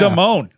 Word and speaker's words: Damone: It's Damon with an E. Vic Damone.